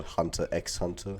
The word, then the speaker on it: Hunter x Hunter: a huge fan of lot of people call Hunter x Hunter even though the ex is silent so what's my plan